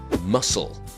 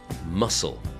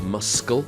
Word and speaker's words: muscle: doubt word two is muscle muscle there is no C sound so it's not muscle it's muscle then a very difficult